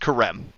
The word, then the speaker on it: Karem: So the country itself is pronounced Karem.